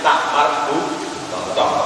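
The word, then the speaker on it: تاء مربوطة: Pokoknya sampai maka tak yang dibaca, tulisannya tak tapi membacanya hak. Itu namanya tak marbuthah.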